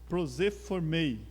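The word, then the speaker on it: προσέρχομαι: Esse achegai-vos, esse verbo, ele se pronuncia proseformei, é o grego original, né?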